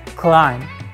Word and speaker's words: climb: the correct one is climb climb without B at the end because we have two